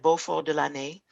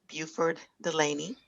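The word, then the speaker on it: Beauford Delaney: It is called Les Amis de Beau, as you said, Beaufort de l'Année. And that's the French pronunciation of the artist's name. In Mhm. the United States, we would call him Buford Delaney.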